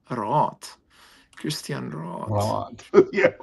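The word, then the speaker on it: Raath: R-A-A-T-H. R-A-A-T, Roth.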